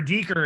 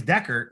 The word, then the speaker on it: Decker: She goes, this is Deeker. And then her husband's like, her name's Decker.